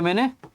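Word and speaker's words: mho: है इसको बोल दिया मैंने ओम इवर्स ठीक है तो इसको थोड़ा मॉडिफाई करके बोल दिया ए मतलब पीछे से ही उसको प्रोनाउंस कर दिया मो ठीक है तो ये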